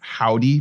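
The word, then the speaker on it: Hovvdy: Another alternative, Howdy, but spelled with 2 V's.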